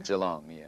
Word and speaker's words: Geelong: that takes you from your hometown am i pronouncing it right g long geelong geelong australia to l.a confidential and now toronto